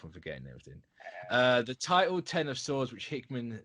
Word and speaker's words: X of Swords: The title pronounced 10 of Swords. So if anyone goes, it's X, it's not 10, like they did with me when Hoxpox was coming out, you can delete that comment.